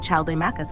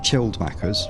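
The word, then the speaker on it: Chilled Maccas: What question did Chaldamachus ask? It was Chilled Macca's, remember? Chilled. Let's pronounce his name correctly.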